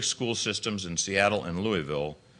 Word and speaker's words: Louisville: Systems in Seattle and Louisville Louisville my wife insists that I pronounce it could use race as